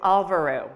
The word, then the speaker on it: Alvöru: really easy for you, Alvöru. It's very easy to pronounce, and it's actually an Icelandic word. And if you really want to hear it in the accent, just go to Google Translate.